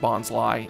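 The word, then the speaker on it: Bonsly: little potted uh Bonsai oh should be bons huh cuz it's like it's Sly B I've just I I have just now figured out that yes it is in fact pronounced bons Li and it goes along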